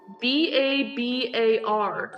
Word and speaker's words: Babar: me look it up b-a-b-a-r so maybe that was how you said it when you were young oh yeah like instead of Babar I'd say bar bear yeah maybe you misread